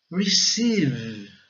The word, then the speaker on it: receive: A pronúncia, então, não é receive, tá? Não é, porque aqui o E tem o som de I, o I prolongado, né?